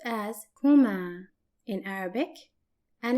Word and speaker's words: هما: We have reached the last dual possessive pronoun, which is there, and it's pronounced as Huma in Arabic, Huma, and it's represented by the letters ha plus ma plus a. An example for it, their house is pronounced and written like this, بيتهما, بيتهما.